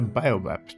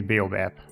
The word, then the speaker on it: baobab: And that's a biobab tree or whatever you pronounce that baabab. Apparently it's baobab. Baobab.